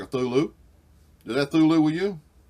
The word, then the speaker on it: Cthulhu: creature called thulu um he said that human tongues cannot pronounce his name properly so you pretty much has gives you a license to call it whatever you want to I'm going call it a thulu that looks like a